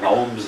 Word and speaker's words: gnomes: far as I know he was the only one that ever pronounced the G in gnomes we call them the Gomes of zor he complain no matter